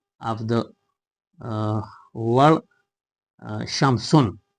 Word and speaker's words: شمس: Because Shamsun u has begun with a letter uh uh with which we uh cannot pronounce uh the article lamb and the article lamb disappears whenever it is added to the word shamsu.